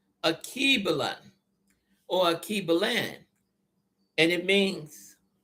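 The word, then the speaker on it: Alkebulan: Now, the true name for Africa, I'm going to spell it. Capital A, L, K, E, B, U, L, A, N. Akibulan. Akibalan or Akibalan, and it means mother of mankind or the Garden of Eve.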